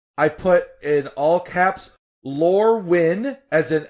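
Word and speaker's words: Lorwyn: um is easy I put in all caps lur win as an l o r e w YN that's how it's spelled then lorwin w i n and lur when wh en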